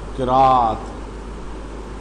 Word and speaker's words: قراءت: الرحمن الرحیم۔ دروس القراءت، یہ لفظ قراءت ہوگا، قراءت، اس کی پروننسیشن دیکھ لیں ذرا، تلفظ دیکھ لیں، یہ زیادہ تر غلط بولا جاتا ہے ہمارے ہاں۔ دروس القراءت،